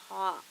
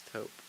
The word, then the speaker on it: taupe: Is it pronounced taupe or is it like top? It's taupe. It's taupe.